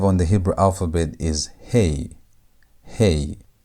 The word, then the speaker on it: he: Letter number five on the Hebrew alphabet is hey. Hey. And hey has a sound of h as in hey or how. That h sound is what hey sounds like.